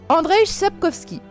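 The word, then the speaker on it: Andrzej Sapkowski: sorceleur écrit par alors attention à la prononciation ça va être du lourd André sepkowski cela étant dit si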